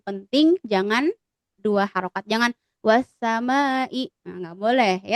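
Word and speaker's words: والسماء: Kalau kita karena pemula misalkan kita dengan ketukan tangan ya, wasamai ya. Jadi enggak boleh wassamai atau cuma dua harakat enggak bisa ya.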